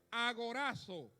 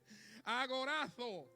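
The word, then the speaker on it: ἀγοράζω: de redimir número uno agorazo bueno con z pero yo como dominicano lo pronuncia así usted me entiende verdad agorazo mejor ahí Ok Qué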